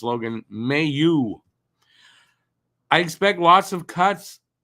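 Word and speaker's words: Mailloux: So, Logan Mayu says this. His name is not pronounced Mayu. It is pronounced Mayu. So it's Logan Mayu.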